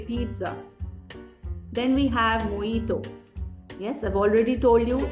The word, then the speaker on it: mojito: it Pizza always say pizza then we have moito yes I've already told you that this is not mojito this is moito then we have jalapeno this